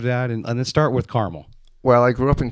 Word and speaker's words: Carmel: we start with carmel is it caramel or carmel how do you pronounce it carmel carmel new york um tell me about